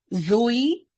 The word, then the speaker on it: zed: Zebra, Zoe, uh, zigzagging, Zimbabwe, um, what else?